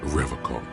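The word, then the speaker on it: Revachol: for Revol he pronounces Revol with a hard K unlike other people serious question time this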